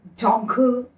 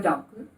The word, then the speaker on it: Dunkel: So if you look at them, there are dark lagers, there are English porters, there are Munich Dunkel, is the way Google pronunciation says that.